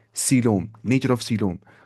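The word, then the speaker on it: coelom: Cavity होती है उसे सीोम कहा जाता है। सीम स्पेलिंग क्या है? सी ओ इ एल ओ एम कोलोम लगता है सीम वरना ये।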